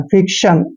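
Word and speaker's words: fiction: Next है FIC, इसको पढ़ते हैं फिक, फिक। और TION को शन पढ़ते हैं, फिक्शन।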